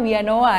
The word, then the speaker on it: Villanova: ya pak ya dari villa Nova itu tulisannya Tapi bacanya we anoa ya oke nah Ini